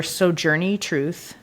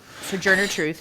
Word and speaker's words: Sojourner Truth: played a role in this convention um were soj Journey truth so Sojourner Truth sorry Sojourner Truth and Frederick Douglas very sorry